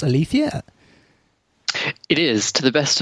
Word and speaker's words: Aletheia: that I've spoken to that is the proper pronunciation Alethea hey listen man so how does ilithyia work